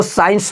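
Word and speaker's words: science: याद रखिए एग्जांपल देखिए ये साइंस देखिए एस के बाद एस के बाद आया सी बिल्कुल हमारा क्या हो जाएगा साइलेंट हो जाएगा इसको देखिए क्या पढ़ेंगे तो साइंस पढ़ेंगे अगला देखिए इसको सीजर सीजर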